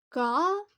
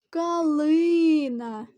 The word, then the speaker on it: калина: який склад падає наголос калина три склади калина і наголос падає на другий склад Подивіться будь ласка на